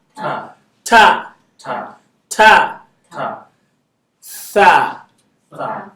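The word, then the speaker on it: ث: So the top of your tongue, put it in between your teeth. Tha, Tha. tha. Tha. Some people call it sa because it's hard for them to pronounce. It's okay. For beginners, it's fine. You get there. Is that okay? So some people say alif ba ta sa. Is that okay? It's alif ba ta tha.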